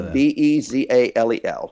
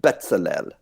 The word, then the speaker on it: Bezalel: So Bezalel, or Bezalel. People pronounce it differently.